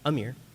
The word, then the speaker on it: Ameer: Is it Ameer or Ameer? Ameer. Ameer? Yeah.